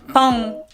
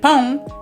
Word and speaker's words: pão: No alterations, but in Portuguese, you have to be mindful of those nasal sounds. Não or pão, because if you pronounce them differently, like pão, it could mean a completely different thing.